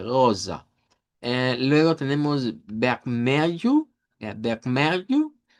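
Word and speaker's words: rosa: Eh, luego tenemos goza, en donde debemos hacer sonar la eri ugular y la s vibrante goza.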